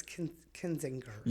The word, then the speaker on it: Kinzinger: Is it Kinzinger or Kinzinger? I think it's Kinzinger. Is it like those names always kind of throw me off. I kind of need soft G or hard G.